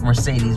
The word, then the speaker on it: Merced: You promised auntie auntie, my grand auntie Merced Merced, it looks like Mercedes, but it's pronounced Mercede.